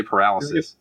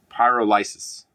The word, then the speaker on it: pyrolysis: I can't say it. I want to say paralysis. Sir? I need to see it in front of me to say it right, but I cannot find it. Pyrolysis. There you go.